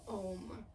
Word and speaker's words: om: people don't realize that it actually has three syllables kind of like an A A U and an m and you can feel